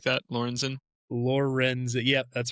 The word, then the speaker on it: Lorenzen: Spelled like that, Lorenzen? Lorenzen.